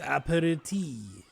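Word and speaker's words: apéritif: Like, I feel like it's aperitif. It like I almost want to get her. It's like aperitif. Hang on. Aperitif. Okay, I just didn't pronounce the F. I thought maybe the F would be silent.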